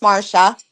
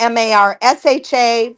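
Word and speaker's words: Marcia: And it is pronounced Marsha. It's pronounced the M A R S H A Marsha, but it's spelled M A R C I A.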